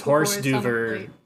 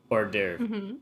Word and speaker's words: hors d'oeuvre: or something like that so it's horse duver and it's pronounced order like i see that is